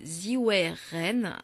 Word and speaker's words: Zhiwei Ren: Je m'appelle Ziwei Ren.